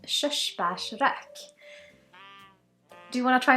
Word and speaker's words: Körsbärsrök: release this is a swedish single malt called shushbash rak do you want to try and pronounce it it's called shush bashrak which means